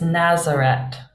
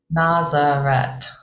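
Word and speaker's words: Ναζαρέτ: opposed to in English the final sound is a a Tau rather than a Theta a th so in Greek here it's Nazareth Nazareth Nazareth yep and in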